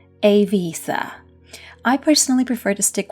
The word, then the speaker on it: Eivissa: per year more interestingly its name varies tremendously across different nationalities there are just as many pronunciations as there are clubs on the island from Ibiza to Ibiza to Ibiza and of course the native / correct one a visa I personally prefer to